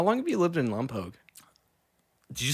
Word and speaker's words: Lompoc: Well, because now I'm trying to pronounce it right. Lompoc.